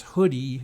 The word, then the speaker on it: Hudi: now aach hoodie as spelled hu di I but pronounced as hoodie like a hood and Apache Iceberg are